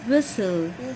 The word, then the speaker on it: whistle: t l e tilt whistle here t is silent here t silent in the middle whistle yes show me